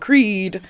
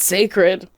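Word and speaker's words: Cécred: I thought it was called Creed. It's sacred. Sacred. But spelled with a C.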